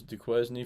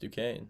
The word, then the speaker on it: Duquesne: I thought this was Duquesne for the longest time. It's actually pronounced Duquesne. More you know. BYU is a bunch of dogs.